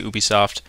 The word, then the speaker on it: Ubisoft: we're taking a look at Ubisoft or Ubisoft depending on how you say it I say Ubisoft now let's get straight